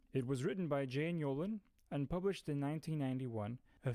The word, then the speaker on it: Yolen: ends with E, and her last name vaguely rhymes with Bolin. Unbelievably specific, right? The book's name is Wizard's Hall. It was written by Jane Yolen and published in 1991, a few years before Harry Potter.